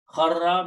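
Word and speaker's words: خَرَّ: Kharra means fa'ala he did, kharara he fell down, but kharara will be written and pronounced as kharra. He fell down.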